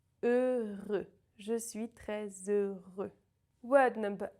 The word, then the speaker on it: heureux: The H is silent, the X is silent. Heureux. Je suis très heureux.